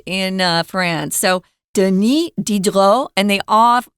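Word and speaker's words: Diderot: uh deni they don't pronounce the s in uh France so deni dedro and they off they often don't even say duh in the middle dedro so yeah it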